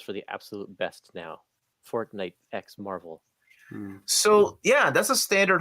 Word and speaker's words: Fortnite x Marvel: a standard size hardcover josh is saying the x is silent it's just showing a